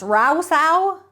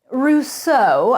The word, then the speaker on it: Rousseau: Rousseau? Rousseau, I corrected him with my meticulous French accent.